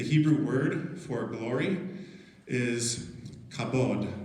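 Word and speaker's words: כבוד: word for glory is kabod it's actually three letters it's kind of like k and uh either b or v and d okay b and v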